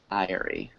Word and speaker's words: diary: Diary. So one's 2 syllables and one is 3 syllables. So diary has a long Oh, okay. I sound, and dairy has the long A sound.